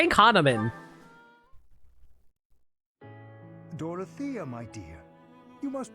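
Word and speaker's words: Hanneman: anything thank you Professor hanaman but I'm fine man I keep on saying his name wrong it's hanaman you don't appear fine maybe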